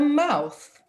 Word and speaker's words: mouth: Next word, Teacher Justice, a mouth. A mouth. A mouth. A mouth. Everyone together, a mouth. A mouth. A mouth. A mouth. Yes, the th sound at the end of the word.